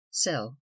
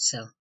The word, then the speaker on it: sills: Generally pronounced by sailors sell, as the port sell.